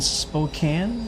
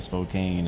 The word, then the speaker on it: Spokane: James engineer up here in Spokane. That's how you say it. I've been corrected. I flew I flew up there in flight to him a few times and I was saying Spokane and people were people